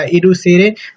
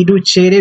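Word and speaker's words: educere: इसमें कई सारे प्रोनाउंसिएशन किए जा सकते हैं, इसका स्पेलिंग आप देख लीजिए ई डी यू सी ई आर ई, एडुसेरे भी बोला जा सकता है और एडुसेरे भी बोला जा सकता है, कहीं पे एडुकेरे भी बोल सकते हैं।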